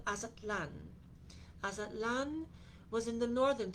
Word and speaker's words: Aztlan: It is interesting also because Azatlan, which is spelled Aztlan, has a derivative from a people from long, long ago.